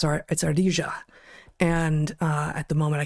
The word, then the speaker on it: ardilla: squirrel, Spanish for squirrel, is always pronounced with a j. It's ardilla.